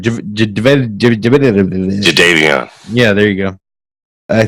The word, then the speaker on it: Jadeveon: Jadeveon.